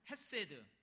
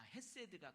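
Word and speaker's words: חסד: 한번 따라서 해 볼래요 헤세드 에메트 이건 한국식 발음인데 원래 헤세드 메트는 히브리어에 히브리어이 구약 성경이 쓰여져 있는 히브리어 단어입니다이 단어는 이미 우리가 체험하고 있지만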